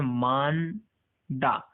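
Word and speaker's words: 많다: अब यहाँ पर देखो मांदा, और यहाँ पर ह का साउंड प्रोनाउंसिएशन नहीं हो रहा है, लेकिन एक्चुअली ये ह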